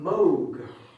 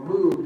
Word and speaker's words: Moog: Leon Theremin, and that is Robert Moog, or Moog, depending on how you pronounce it.